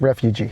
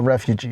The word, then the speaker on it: refuge: Yeah, because the other way would be like refugee. No, it's not a refugee, it's a refuge.